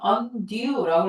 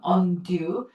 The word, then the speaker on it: undue: 자, 그 다음에 undue라고 읽어요. due예요, due 발음. undue.